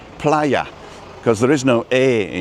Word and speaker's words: Playa: want I see Canaria bla oh and that's pronounced Playa cuz there is no a in Spanish there's an e but there's no a so we would say player right yeah because we pronounce the first a